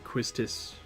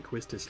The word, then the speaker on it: Quistis: Queen er and ff9 quistis there was I watched a video with somebody pronouncing quistis like heist Asst and I I really hope that's not the correct way yeah quistis Queen er